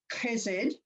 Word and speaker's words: chesed: It's pronounced in the Hebrew chesed. I don't expect you to pronounce it like that because it is hard on your tonsils. We'll call it chesed because that's a little bit easier, but it's a hard kind of sound.